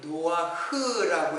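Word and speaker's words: נֹחַ: 노아라는 인물이 나옵니다 노아 이거는 노아 흐라고 해요 그 발음은 노아 흥이에요 근데이 뜻은 안식이에요 그래서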